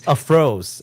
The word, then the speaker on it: Throes: Anyways, It's like Froze of the throws Watchmaker. throws as in like thrashing about.